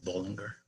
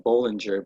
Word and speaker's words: Bollinger: the Bollinger Bands yes first of all it's bowling you're not pulling her right I hear some people pronounce it vulgar good well I know John IV I've met him so we call him Bollinger but yeah so do